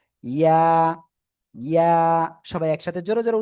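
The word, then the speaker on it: ياء: জিহ্বার মধ্যখান তার বরাবর উপরে তালুর সাথে লাগিয়ে জাস্ট এক আলিফটা নিয়ে উচ্চারণ করতে হবে। ইয়া ইয়া, সবাই একসাথে জোরে জোরে উচ্চারণ করেন, সবাই সবাই, কেউ বাদ যাবে না।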